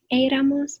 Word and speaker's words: éramos: And in the nosotros form here, so you want éramos, the accent on the E.